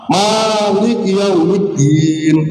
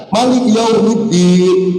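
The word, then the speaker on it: مالك يوم الدين: Jadi ayat dibaca jadi malah Malik yaumiddin, maknya panjang. Ada Malik yaumiddin, maknya pendek. Nah, perbedaan-perbedaan itu yang disebut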